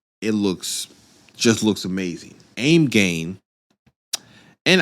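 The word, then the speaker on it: AIMGAIN: looks just looks amazing aim gain and I believe that's how you say their name I've always said aim gain cuz it's spelled a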